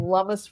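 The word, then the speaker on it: Lummis: background the fact that her name rhymes with hummus does not have anything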